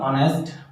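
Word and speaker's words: honest: एच आपका consonant होता है, ठीक है, लेकिन इसका जो प्रोनाउंसिएशन निकल के आया उससे हम बोलते हैं ऑनेस्ट, ठीक है। लेकिन आ का साउंड देता है, इस वजह से इसके साथ हम यूज करेंगे एन।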